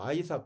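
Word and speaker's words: Isaac: 이게 한국말이 한국말 이삭이이 이삭을 영어식으로 또 아이삭 그러죠 아이삭 영어는 이삭이라고 발음 안 하고 아이삭 그래요 이삭을 한국말 이삭을 아삭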